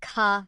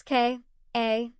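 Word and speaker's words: ค่ะ: When saying hello with a Y, women add ka, pronounce K, A, H, ka, to the end, while men say krup, pronounced K, R, U, P, krup.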